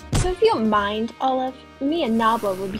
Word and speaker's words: Aleph: Listen to Olive. Technically how your name should be pronounced and spelled.